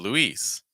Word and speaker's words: Louise: talked about earlier and Louise Louise so the boy's name is Louis the girl's name is Louise Louise just a note